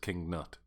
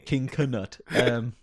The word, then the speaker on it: Canute: Is it actually that his name's just King Nut? No, it's Canute.